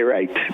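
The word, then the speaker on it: write: w r i t the W is silent that's why we say right of course the other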